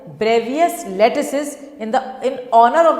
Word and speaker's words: Bravais: उसको उस चीज़ को कहा गया ब्रेवियस लैटिसेस, मतलब उसने कहा लैटिसेस कितने तरह के होते हैं?